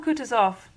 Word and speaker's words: Kutuzov: General Kutuzov, said Bolkonsky, speaking French and stressing the last syllable of the general's name like a Frenchman, has been pleased to take me as his aide-de-camp.